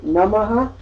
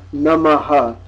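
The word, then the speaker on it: नमः: Similarly, namaha is na, the dental na, which we don't have in English, and ma, followed by the aspirate, ha. Nama or namaha.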